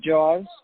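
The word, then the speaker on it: Jauz: and it's great i i like jowls which is he pronounces it jaws and he plays like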